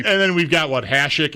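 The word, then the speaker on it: Hasek: Hashik and Hassik. I was thinking Hashik, but Okay. I don't have a firm stance on that one. It's close enough to the same. I say Hashik. Me too. Always have.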